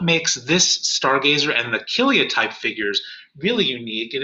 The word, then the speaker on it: Kilia: historian of ancient art they'll call it a kilia type figure and that's spelled k-i-l-i-a and that's really just named after